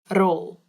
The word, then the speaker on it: rol: The pen rolled. This one is funny because roll, all you have to do is roll your tongue on your mouth, so it makes the r sound like before.